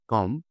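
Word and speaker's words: comb: B plus M চুপচাপ বি যদি এম এর পরে থাকে তাহলে বি চুপ করে থাকে যেমন কম বোম ল্যাম্প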